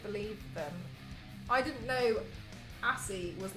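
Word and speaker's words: ASCII: I didn't know assy was like some kind of keyboard thing. So there's somebody in my chat who spelt like the keyboard thing. And I didn't know it's pronounced assy, and this entire time I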